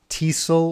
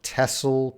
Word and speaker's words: TESOL: That's probably a TESOL or TESOL course, depending on how you want to pronounce it.